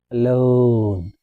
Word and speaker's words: alone: Uh, alone. Have you noticed how I'm pronouncing alone? Alone is similar to boon or nose. O sound o alone.